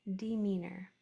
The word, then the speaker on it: demeanor: Y or a demeanor. Muhammad. EA is a graphim that makes four different sounds, but it's most common sound is E as in demeanor.